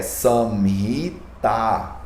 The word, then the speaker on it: Samhita: Como, por exemplo, a palavra Samhita, ela é Samhita, com A maior no final.